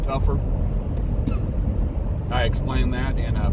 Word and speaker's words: Topher: Looks like Topher, T-O-P-H-E-R, but I pronounce it Tougher.